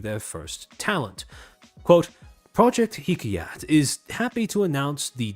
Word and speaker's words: Hikayat: And about a week later, August 28th, Rapu end up debuting as what was colloquially referred to as Hikayat's generation zero. Now, accent on the car.